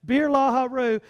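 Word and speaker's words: Beer-lahai-roi: 14 before our therefore the well was called birla Heru it sweats pronounced Birla Haru it lies between kadesh and bered so beer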